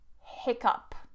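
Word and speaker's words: hiccough: the last one and this one is a very strange one but it's pronounced up up for example hiccup hiccup now with hiccup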